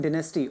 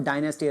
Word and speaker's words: dynasty: isn't this a fucking dynasty, or as they pronounce in the United States, or dynasty as we pronounce in India, that every time somebody, your family's son or daughters end up becoming prime minister.